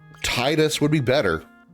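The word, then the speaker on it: Tidus: I guess officially quote unquote it would be Tetus because any other any uh spelling of Ti do your best is always pronounced Tina Tifa.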